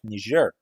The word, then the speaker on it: Niger: I thought it was Niger, but now many people pronounce it on a French manner like Niger.